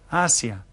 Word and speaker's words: Asia: differently, and that's because the vowels are always pronounced consistently in Spanish, Asia.